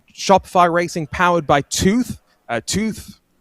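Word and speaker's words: Twoth: Tooth that is spelled out t w o t h and the th there stands for the two th's and I hope that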